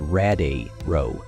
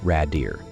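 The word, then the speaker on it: Radiru: and corrects him saying it's pronounced rad a row not Rader Jin Wu begins crafting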